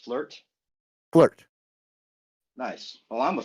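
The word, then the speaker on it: FLERT: level Earth realm with topology but it's it's pronounced flirt flirt nice well I'm a Flirt that's for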